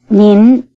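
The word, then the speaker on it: 你: rising tone mean while the plain word is in the low tone me listen to the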